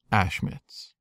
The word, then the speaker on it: Ashmitz: And a very special shout-out to Ashmitz, who told me that should I ever want to say their name, it's pronounced Ashmitz.